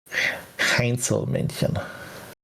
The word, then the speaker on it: Heinzelmännchen: that, and the German Heinzelmännchen. I cannot speak German in English accent. It's hard. Because I actually know how to, it needs to be pronounced. Understandable. Heinzelmännchen.